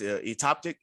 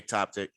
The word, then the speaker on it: ectopic: talk about uh I believe the word is atopic or ectopic I can't really pronounce that ectopic atopic okay ectopic so when we talk